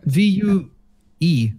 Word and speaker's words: Vue: V-U-E. It's Vue. If you spell that, it's Vu.